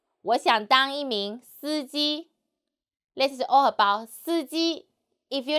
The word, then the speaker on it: 司机: 我们一起读司机司机 Tone should be flat. 司机司机 Very good.